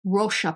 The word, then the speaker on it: Roxa: Apparently, it is pronounced Roxa palette, which means purple in Portuguese, I believe.